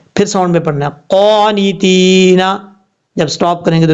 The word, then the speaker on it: قانتین: اب اس لفظ میں بہت بڑی غلطی کیا کرتے ہیں لوگ، آپ کو بتاتا ہوں. دیکھیں ہجے کرتے ہوئے کیا کرتے ہیں، تا یاد تی، حالانکہ یہاں پر یا مدہ ہے، یا ساکن سے پہلے زیر ہے تو یا مدہ ہوتا ہے، یہ یا مدہ کی تعریف ہے.